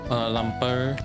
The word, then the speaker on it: Lumpur: Lumpur. If I gotta roll my R's, then I mean, that's definitely pronounced. You gotta roll the R there. I almost guarantee you.